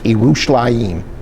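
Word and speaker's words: ירושלים: So this is pronounced Yerushalayim, or Jerusalem, okay?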